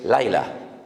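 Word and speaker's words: לילה: Ya sé que les causa risa, pero es que estoy pronunciando la palabra sol. Shimshon, sol. Y Dalila, la palabra noche en hebreo es Laila.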